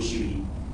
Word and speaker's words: syibhi: Bacanya wajib syibhi atau wajib sama? Wajib syibhi. Sib, dia memang sib itu. Syib. Ya sib. Wajib syibhi. Syibhi. Sib. Bukan wajib sabah ya Pak ya?